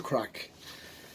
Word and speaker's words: craic: you maddie what does crack mean what is crack well in the states in here i mean you can just it's it's different meanings you know it's it's spelled c-r-a-i-c not c-r-a-c-k so what we mean